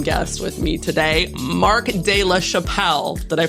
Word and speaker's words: de la Chapelle: have an awesome guest with me today mark de la chapelle did i pronounce it correctly all right i did it